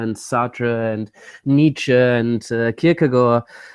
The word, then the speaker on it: Kierkegaard: Sartre and Nietzsche and Kierkegaard by the way I could learn from a Danish person that is pronounced cook ago but like as soon